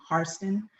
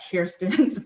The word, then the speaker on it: Hairston: They were of Scottish heritage, and they pronounced the name Harston, whereas the Black Hairstons pronounced Hairston.